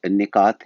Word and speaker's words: نکات: زیر لگی ہوئی ہے، اس کا تلفظ نکات ہے اور اس کی جو